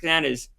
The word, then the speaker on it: Tanana: If you're bored, check out Frank Tanana's career. It's remarkable. Is it spelled like banana with a T?